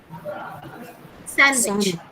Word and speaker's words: sandwich: Next. Sandwich. Sandwich. D is silent.